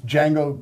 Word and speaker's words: Django: Well, if my children are watching, my wife will tell the story that it's Django pronounced like that, but it was actually